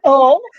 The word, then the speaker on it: Hull: No, it's Hull. If you want to pronounce it correctly, it's Hull without the H.